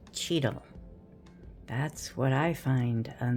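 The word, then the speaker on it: chital: A x i s deer and it is spelled ch h i t a l but it is pronounced cheetah.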